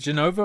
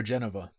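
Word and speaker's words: Jenova: Is it Genova or Geneva? Say it like Jennifer.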